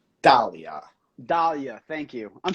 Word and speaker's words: Dahlia: Tonight we got Conservative Ant, and on the we have Delilah. That's how you say her name, correct? I think it's Dahlia.